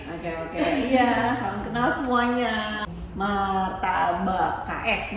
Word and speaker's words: MarTaBaKS: Martabak KS, bacanya gitu ya.